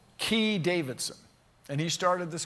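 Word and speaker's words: Keay: guy in San Francisco how do you pronounce this guy's name ke a y Kea y key Davidson and he started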